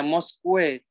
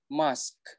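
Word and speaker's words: mosque: Nah, selanjutnya, ini biasanya saya sering sekali dengar ini teman-teman bilangnya Moskwe kayak gitu, dibaca semua. Padahal sebenarnya gampang banget. Itu UE-nya diilangin. Cara bacanya cuma mask kayak gitu.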